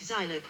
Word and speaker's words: Zilog: In the oral history interview video which Federico Fagin, co-founder of Zilog, recorded for the Computer History Museum, he pronounced Zilog with a long I consistently.